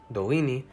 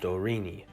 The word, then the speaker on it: Dorini: r sound as you can tell when i'm pronouncing the name of the language dolini the anguish r is not used dorini nor is it trilled or tapped dorrini or